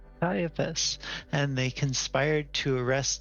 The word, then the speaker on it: Caiaphas: Caiaphas. Caiaphas.